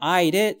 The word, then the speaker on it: aisle: 와 아를 합치면 통로 아의 정확한 스펠이 나오죠 그리고 여러분 발음은 좀 조심하셔야 됩니다 발음이 아 섬 하고 정확하게 똑같아요 둘 다 아 되겠습니다 아시겠죠 자 이제 전체를